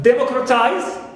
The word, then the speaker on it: democratize: verb which ends with eyes also we have democratize H TI not c not and the more